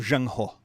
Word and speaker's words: Zheng He: this tension in the voyages of exploration of zhang ho which is spelled in english z-h-e-n-g and his last name